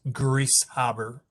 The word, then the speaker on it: Grieshaber: Griesaber. Can you remind me the correct pronunciation? I'm probably saying it wrong. Bob, could you Judge Wasserman, that is correct. It's Grieshaber.